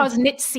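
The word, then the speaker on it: Faecalibacterium prausnitzii: prosnitzi, am I pronouncing that correctly? Prosnitzi, yeah. It's Prosnitzi. Prausnitzii.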